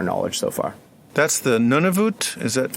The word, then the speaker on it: Nunavut: That's the Nunavut? Is that how you pronounce it? Nunavut.